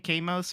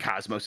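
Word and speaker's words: KOS-MOS: Kamos or whatever? Yeah. I think Cosmos is how you pronounce it, Cosmos, probably.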